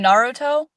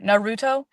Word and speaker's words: Naruto: It just snowballed right into getting to like, oh, my first ever cosplay, I think Itachi from Naruto Okay. or Naruto. Some people pronounce it differently.